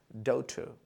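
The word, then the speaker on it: daughter: पहले वाले पार्ट पे स्ट्रेस, डॉटर, डॉटर।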